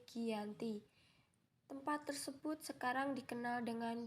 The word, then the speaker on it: Giyanti: yakni di desa Janti dalam pelafalan Belanda ia disebut sebagai khianati dan secara tertulis ia terbaca sebagai Giyanti tempat tersebut sekarang dikenal